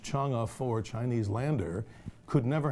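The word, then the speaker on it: Chang'e: don't believe it that even the cha it's pronounced chunga for Chinese Lander could never have landed on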